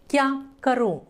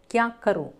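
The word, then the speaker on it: क्या करूँ: ಕ್ಯಾ ಕರು ಇಲ್ಲಿ ಕರು ಇಲ್ನೋಡಿ ಬಿಂದು ಬಂದಿದೆ ಮೂಗಲ್ಲಿ ಉಚ್ಚಾರಣೆ ಮಾಡೋ ರೀತಿ ಶಬ್ದ ಬರಬೇಕು ಕ್ಯಾ ಕರು ಕ್ಯಾ ಕರು ನಾನು ಏನ್ ಮಾಡ್ಲಿ ಮೇ ಕ್ಯಾ ಕರು?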